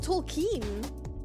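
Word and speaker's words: Tolkien: It's pronounc pronounced Tolken.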